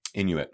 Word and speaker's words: Inuit: Inuit.